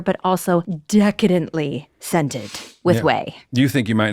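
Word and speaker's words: Ouai: seen their advertisements because whey is spelled o you a i and you're thinking no way and I'm saying yes way that is how you spell it wash your way to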